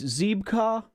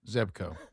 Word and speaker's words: Zebco: And I found a I think it's Zeba is how you say it. Zeb Zeco. Zebco.